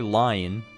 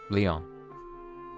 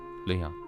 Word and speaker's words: Lion: I will not say lion Leon it's pronounced it's written as that but pronounced Leon Leon it's like my middle